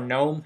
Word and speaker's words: GNOME: Linux has a screen reader with it in the GNOME or GNOME, however you wish to pronounce it, environment, but it